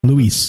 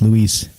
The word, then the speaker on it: Luis: Luis. Lou Elizondo. That's why people call him Lou, because it's Luis.